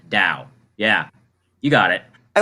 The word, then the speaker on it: Tao: yeah it's it's it's it's pronounced like with a D sound da yeah you got it